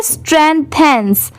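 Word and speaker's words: strengthens: अब इसे क्या पढ़ेंगे, स्ट्रेंथेंस। इसकी प्रोनाउंसिएशन क्या है, स्ट्रेंथेंस।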